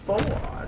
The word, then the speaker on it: Fouad: See, I think his name is Squad. S-Q-U-A-D. But you put an F-O in front of it. It's Fouad, right? That's how you pronounce it.